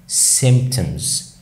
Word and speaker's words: symptoms: او اعراض، symptoms. روحت على البي بس قلتها خفيفه خالص او ما قلتهاش تقريبا، symptoms. ان صوت الام بيأثر على صوت الان، ودي حته مهمه جدا.